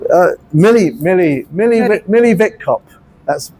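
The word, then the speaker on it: Witkop: Uh Millie Millie Millie Millie Vicop. That's V, just a W pronounced V.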